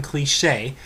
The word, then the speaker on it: Cliche: actress Now American by the name of Karen kich uh her name is spelled Karen cliche uh but it's pronounced clich um damned Americanized